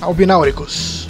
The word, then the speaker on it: Albináuricos: Vilarejo dos Albináuricos. E é assim que se pronuncia mesmo.